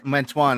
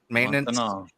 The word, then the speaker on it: maintenant: Yeah, parle Francois Mantoine. How you say that, man? Mantoine? Maintenance. Maintenant.